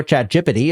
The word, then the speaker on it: ChatGPT: send slap it into chat GPT or chat jity as we in-house pronounce it here and the answer